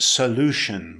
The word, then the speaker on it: solution: Solution, it's a noun, it's pronounced solution with an emphasis on the second syllable.